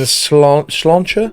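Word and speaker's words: sláinte: Last one and slancher. Is that how you say it? Oh, yeah. So, that's just like that actually is the Irish word for health.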